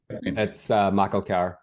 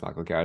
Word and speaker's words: McElchar: It's McElchar. It's pronounced McElchar. It's an Irish name.